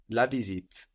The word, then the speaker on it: visite: So the E on the end lets us know that we pronounce that final T, that final consonant.